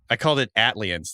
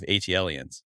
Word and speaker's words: ATLiens: Oh, I called it ATLiens, the song or whatever, instead of ATLiens.